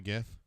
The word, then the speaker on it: GIF: for graphic it does uh hard G that's how how I always felt about it but the guy who actually made the I normally call it gif says it's GIF so I hate that